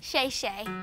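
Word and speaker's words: 谢谢: how do you say thank you in Chinese sh Shay oh sh Shay you're welcome well I'm sh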